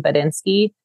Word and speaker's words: Buttnski: So that's why I pronounce it the way I do, because it's an actual word. And we changed the letters to have a play on words in the brand name Buttnski.